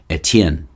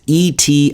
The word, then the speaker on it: Etienne: by the french word for stephen which is a tien so as you can see it's here somewhere and the house is actually well the full house is actually ignore um so it's e-t-i-e-n-n-e that's steven uh in french and something along